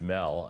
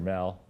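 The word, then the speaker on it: Mehl: But even today, people say Max Mell, and everyone said Max Mell, like you shouldn't say mail, but he pronounced it mail.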